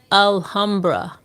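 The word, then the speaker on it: Alhambra: to go and I see alra am I pronouncing that right alhamra hey alhamra yes alra alra is is the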